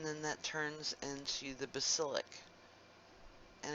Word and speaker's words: basilic: into the basilic and it's just like if you like to cook you know the word basil the herb basil and it's spelled the same way just with an Icee at the end and this goes down